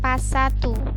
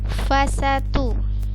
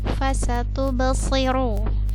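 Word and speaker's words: فستبصر: Fa bukan pa ya. Bukan pasatu, tapi fasatu. Kemudian sini ada ba sukun, maka dia hukumnya qalqalah, maka terpantul fasatubsi. Kemudian di sini ada huruf so di harokat kasrah, maka dibacanya si, bukan si ya. Hati-hati, banyak yang terbaca si biasa seperti ini. Ini kan sa. Lalu di sini terbaca si, huruf s biasa. Padahal ini hurufnya si.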